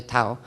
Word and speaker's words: tau: the tau it's called it's not pronounced dao it's actually tau in guardian speak it's